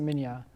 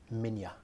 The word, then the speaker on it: Minya: I think they pronounce it Minya. In the original Japanese, it's Manila, Yeah. but in most American dubs, I believe it's Minya.